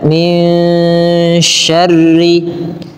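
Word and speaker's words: مِن شَرِّ: Nun ketika bertemu dengan syin suara nunnya tidak diperjelas tapi disamarkan kepada huruf syin yang mana pada bacaan ini terdapat hukum bacaan ikhfa.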